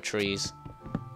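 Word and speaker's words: three: I'll get 2 more trees. Actually, fuck it. I'll get 3 trees. 3 trees. You know, Ireland, we don't pronounce 3 with a H, but like, th. We say tree, as in a tree.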